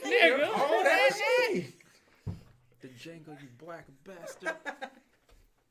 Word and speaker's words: Django: The Django, you black bastard. The D is silent.